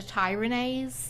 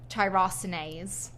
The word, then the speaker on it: tyrosinase: so long I used to call it a tyras inhibitor but I actually recently found out it's pronoun pronounced tyrosinase so it's very important that you're using a